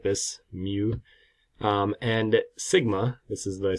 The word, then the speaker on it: mu: For a population, the parameters we use are mu, which is the average, pronounced kind of like this, mu, and sigma.